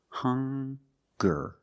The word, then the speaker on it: hunger: They also make the same sound with the nasal sound and the hard g. Hunger.